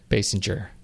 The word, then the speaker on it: Basinger: It's Basinger. Just say it like it needs to be said.